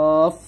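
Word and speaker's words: ق: এটা মোটা হবে, একটা পাল্টা আওয়াজ হবে অফ, আর এটা স্বাভাবিক ভাবে আমরা উচ্চারণ করব কাফ, এরকম ভাবে।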